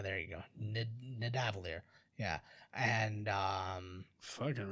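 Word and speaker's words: Nidavellir: I can't even pronounce it. Midavalier. There you go. Nidavalier.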